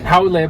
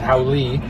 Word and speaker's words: haole: Haole, by the way, which is a word you'll hear all the time, often mispronounced as haole.